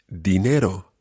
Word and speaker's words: dinero: Try to make sure that you've got that soft D sound at the beginning of that word. El dinero. El dinero. Muy bien, muy bien. You should make sure that your tongue comes between your teeth when you're saying it.